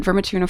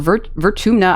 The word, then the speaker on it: Vertumna: Professor Howe says it's like a doorway to the star system, where the planet Vermituna 4 is on the other side. Or Vertumna, I keep saying this planet name wrong.